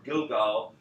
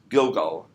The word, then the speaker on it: Gilgal: So that's Gilgal in the Bible, which is the Hebrew pronunciation basically of Gilgal.